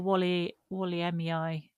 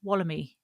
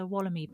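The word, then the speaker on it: Wollemi: reliably informs us that I was pronouncing that rare pine wrong. So I think we were calling it a Walliemii pine or something like that. Apparently it's like wallaby, so it's Wallamy. It's a Wallamy pine.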